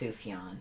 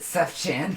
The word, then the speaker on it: Sufjan: It's pronounced Sufjan. I was I pronounced it Sufchan cuz it's really it's really Sufjan.